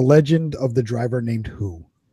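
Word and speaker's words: Hu: I have the legend of the driver named Who. And Who is spelled H-U.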